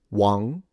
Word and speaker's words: Wang: Uh if you want to know how to pronounce it in Mandarin is Wang. So the G is fully nasalized. You don't pronounce the G.